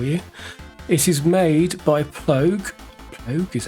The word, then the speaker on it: Plogue: It is made by Plogue is how you pronounce it, and then it's called Sforzando, and that is all it is.